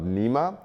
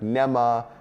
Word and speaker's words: Nema: sensitive to misspellings and mispronunciations of nema I've been called like nemah I've been called Nemo I mean anything and